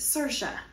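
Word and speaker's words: Saoirse: my mind that I was anywhere but on Sasha which is I had to look up how to say it because it doesn't look like that's how you say it I had to Google Translate pronunciate and Sasha is how you say the island's name that's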